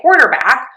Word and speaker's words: quarterback: But to say quarterback, we are going to stress quore, the beginning syllable. So we have that k w combination and then the or quo. Quarq.